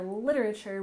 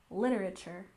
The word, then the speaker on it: literature: first syllable classic classic and you remember literature we tend to say quite quickly with a stress on the first syllable literature literature so classic literature refers